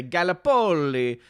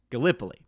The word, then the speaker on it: Gallipoli: pronunciation for once because i always look at it and like to say gallapoli when reality i believe it's gallipoli uh so gallipoli thank